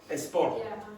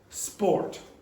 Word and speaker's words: sport: If you pronounce it like a Spanish speaker, you will get esport. Okay. Which is two syllables. So it only has one syllable in English. So where is the stress? Just one. Yeah, there. It has to be like that. Okay. So usually you don't see that because it has one syllable. So the pronunciation is sport.